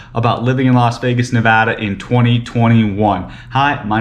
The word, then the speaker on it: Nevada: entire state not just in las vegas it's pronounced nevada not nevada not nevada not any other way nevada so make sure please guys pronounce it correctly